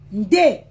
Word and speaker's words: Ndé: Ça s'appelle, ça s'écrit N-D-E. Ndé.